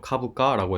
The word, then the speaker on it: 株価: 이거 슈카라고 읽으면 안 됩니다. 슈카라고 읽고 싶어지는 한자인데요. 카부카라고 해서 주가라는 뜻이고요.